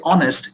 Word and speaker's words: honest: so when you say honest you're not pronouncing the h the h is kept silent you're actually skipping h and you're starting with uh you're starting from o and you say honest and